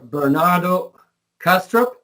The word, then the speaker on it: Bernardo Kastrup: Bernardo Kastrup is that correctly pronounced um that's correct yeah Bernardo has a